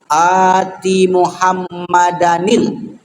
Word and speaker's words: muhammadanil: allahumw wasti muhammadanil Kenapa ada Danil di situ bacanya ah karena ada Hamzah wasal kalau ada muhammadan dan ujungnya kemudian disambut oleh alif lam maka ditambah Nun di bawahnya itu belajar tahsirnya begitu muhammadan kalau kita berhenti muhammadan